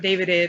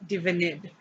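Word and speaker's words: D'Vinid: Divinid is spelled D apostrophe Vinid. Just so you know, it's not Davidid or something, it's Divinid.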